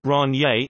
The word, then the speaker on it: Rainier: Rainier at the scene Longmire pronounces the beers named Ron yay in an approximation of a French pronunciation which may be inaccurately